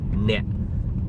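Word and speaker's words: អ្នក: The word you in Khmer is net. Net. N-E-K. That is my phonetic. Okay, N-E-K. My phonetic. N-E-K. Net. And the K is silence in this language.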